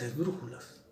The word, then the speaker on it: esdrújula: La palabra esdrújula es esdrújula. ¿Por qué? Porque lleva el acento en la antepenúltima sílaba.